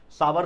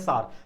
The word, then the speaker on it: sour: सावर कुछ लोग बोलते हैं, सावर नहीं बोला जाता है, प्रोनाउंसिएशन उसका होता है सार।